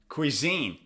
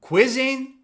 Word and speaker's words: cuisine: or the second syllable quizzing or cuisine Cuisine it's on the second syllable repeat after me Cuisine